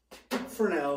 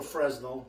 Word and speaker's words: Fresnel: the early 1900s were using fresnel or fresno if you like the american pronunciation lighting this is the